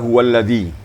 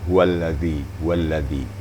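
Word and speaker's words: هو الذي: Kembali kepada huwallazi. Zal, makhrajnya di ujung lidah dan ujung gigi atau papan gigi atas. Huwallazi ya.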